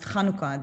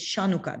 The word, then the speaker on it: Chanukah: no idea that uh chanukah is pronounced chanukah they think it's shanuka that's how they they uh romanized it so you kind of